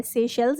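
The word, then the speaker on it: Seychelles: से शेल्स इसको यह प्रोनाउंस करना है।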